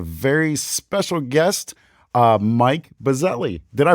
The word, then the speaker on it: Buzzelli: covered that but yes in Italian a lot of people say it's boot jelly and I was like no we say bazelli like it's a bumblebee you gotta get